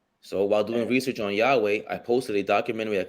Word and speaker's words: Yahweh: That's Yahweh. Oh, that's how you pronounce when he says it at the end? Yeah, because the original Hebrew didn't have vowels. It was all consonants.